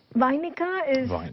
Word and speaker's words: Vainika: What's the meaning of being a Vainika, and what's the correct pronunciation of that? Vainika is an artist who learns how to play the veena.